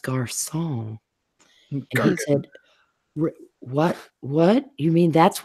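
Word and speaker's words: garçon: turn to my father's it will will it's pronounced gar song what what you mean that's what that little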